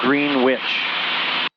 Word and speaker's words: Greenwich: Spelled the same as Greenwich, Connecticut, but it was pronounced Greenwich.